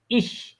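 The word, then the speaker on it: ich: যেমন ইস ইস ইস ইস উচ্চারণের সময় বাতাসটা ছাড়েন তো একটু।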